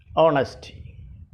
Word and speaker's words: honesty: sincerity al martha honesty honesty here h is silent honesty these are examples of